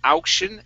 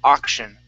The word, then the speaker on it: auction: Instead of auction, ow, it's ah, auction.